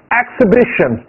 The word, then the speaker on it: Exhibition: 不发音 ExhibitionExhibition， H 不发音，Exhibition，大声读，Exhibition，展览的意